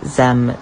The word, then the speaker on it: zim: asking about my pronouns they are pronounced z zem zaire